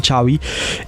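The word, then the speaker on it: Xavi: la campaña Don Juan le dicen chavi es un Catalán Javier que se escribe con x exactamente exactamente chavi Javier vendrel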